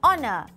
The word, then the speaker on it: honor: In some exceptional cases, an is also used for words starting with a silent H. For example, an honor, an hour, an honest man.